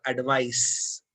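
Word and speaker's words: advice: आई एडवाइज यू to take my grammar एडवाइस। ध्यान रहे दोनों शब्दों में जो उच्चारण है वो थोड़ा डिफरेंस है। एडवाइज में ज साउंड आएगा और एडवाइस में स का साउंड आएगा। एडवाइस नाउन है, एडवाइस वर्ब है।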